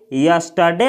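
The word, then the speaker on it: yesterday: जो शब्द है इसमें यह जो आर होता है इसका उच्चारण नहीं किया जाता है इसको पढ़ा जाता है यस्टरडे यस्टरडे यस्टरडे का हिंदी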